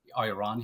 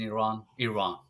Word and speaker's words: Iran: Yeah, I'm originally from Iran, or some people call it Iran here, but we pronounce it in Iran.